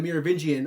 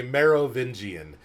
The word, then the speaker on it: Merovingian: getting ready to say Merovingian, because I think I even said it wrong. I had to like spell it out. Marrow, like bone marrow, Vingian. Like, why is the Merovingian so important and everything that's going on?